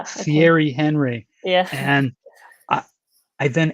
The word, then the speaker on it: Thierry Henry: announcing the questions and he pronounced terry henry on the wrong way it was thierry henry yeah and i i